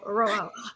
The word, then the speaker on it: Rojo: So not the ho, Rojo.